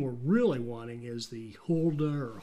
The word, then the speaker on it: Hulda: And the train we're really wanting is the Hulda, Hulda, H-U-L-D-A, I'll call it the Hulda.